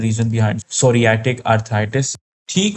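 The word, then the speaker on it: psoriatic: अच्छा सोरियटिक अर्थराइटिस। यहां पर पी साइलेंट है अर्थराइटिस।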